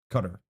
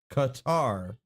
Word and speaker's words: Qatar: Cutter. Now, just to make sure I was not mistaken in how it is pronounced, it is pronounced Qatar, not Qatar.